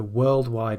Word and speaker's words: worldwide: the first syllable, so worldwide attention. But if you put it on its own, maybe at the end of a sentence, then the stress will appear on the second syllable.